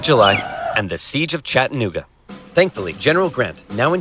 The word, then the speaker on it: Chattanooga: Chattanooga, but it's Chattanooga. Chattanooga. You don't pronounce the N. Chattanooga.